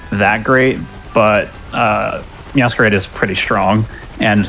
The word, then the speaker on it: Meowscarada: Is it Meowscarada? That's how I say it. Meowscarada? Because it's supposed to be like a masquerade, but it's a masquerada.